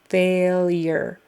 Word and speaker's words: failure: respiratory respiratory and then failure is like f long a l y e r failure it's not spelled that way but that's kind of the phonetic um spelling there failure failure failure failure